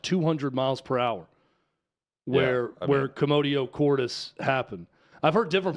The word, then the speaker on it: commotio: Let's go with commotio then. Like commotion.